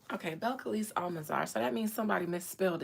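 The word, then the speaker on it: Belcalis Almánzar: Beliss Almanar. So that means somebody misspelled it and it threw me off. Beliss Almanar Belise Almansar.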